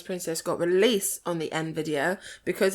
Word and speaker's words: Nvidia: it might be in is that how it's pronounced in video yeah but it starts with an n yeah nvidia nvidia oh okay nvidia but of course that was